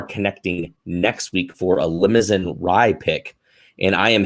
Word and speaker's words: Limousin: um it's actually pronounced limousine i was surprised yeah it doesn't look like it because there's no e at the end but it is for